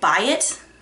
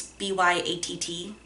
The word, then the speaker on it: Byatt: I don't know how- is it- is it- Byatt? Like Wyatt? Is that how you say her name? Because it's b-y-a-t-t? Byatt, I guess?